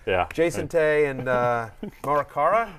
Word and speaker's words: Morikawa: Jason Tay and Morikawa. How do I pronounce Colin Morikawa. Morikawa. Morikawa. There's a W.